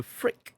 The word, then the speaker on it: Phrik: There's also, as I mentioned before, Cortosis, but there's also Frick as well, which is also lightsaber resistant. Well, Spelled with a P. So, yeah. Phrik.